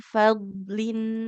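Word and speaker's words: فضل: Fadlin huruf dotnya jangan dipantulkan. Fadlin, coba ibu. Fad- Fadlin. Fadlin. Diulang. Wallahu dzu fadlin 'alal mu'minin. Wallahu zu fadlin alal mu'minin. Lagi dzu fadlin, dzu fadlin. Zu fadlin. Jangan fadl. Jadi jangan ada seperti mau memantul ya. Karena huruf dot bukan huruf qalqalah.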